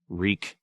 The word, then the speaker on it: Reek: might be wreak again reek reek it rhymes with sneak outside the snow still